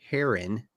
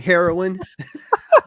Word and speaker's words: Heron: October 7th is when the boy and the Heron premieres I said it right I said it right yeah not hitting my vein this time heroin the heroin oh I had I had